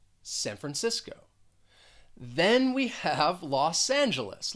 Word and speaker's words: San Francisco: we're talking about well that second word the first syllable has the schwa and that c is gonna sound well more like an s and that second syllable is stressed san francisco san francisco then we have los